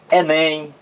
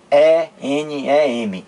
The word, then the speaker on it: Enem: Não, eu não digo E-N-E-M, eu digo Enem.